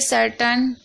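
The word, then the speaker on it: certain: तो देखिए सर्टन, यहाँ पर भी आप देख रहे हैं सी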